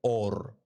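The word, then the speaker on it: אור: vestimenta de piel, porque la palabra luz y piel en el hebreo se pronuncian igual. Se dice or. Las dos se pronuncian igual, pero hay una de ellas que tiene una alef, otra tiene una ain. Dos letras inician con dos letras diferentes, pero suenan igual.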